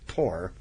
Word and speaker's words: Thor: chief whose name is Thor yep or more rightly it should be pronounced poor but you know they don't pronounce it right in anything so so